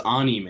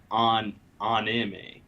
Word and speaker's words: anime: Yeah, they also don't have a sound for I. It's E. So it's anime. It's not anime.